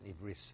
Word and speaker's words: Ivris: And he would say a shir in Hebrew, but in Ivris, not Ivrit. Ivris. You know the difference, Ivrit or Ivris? Not American Hebrew, not American Hebrew.